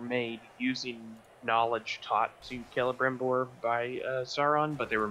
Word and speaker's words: Celebrimbor: Also, game taught me how to pronounce Celebrimbor. Well, Pronouncing it with a K, I don't know if I like that.